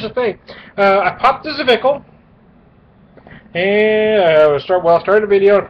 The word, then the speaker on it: Zwickel: It is their flagship beer, pronounced Zwickel, an unpasteurized, unfiltered German classic.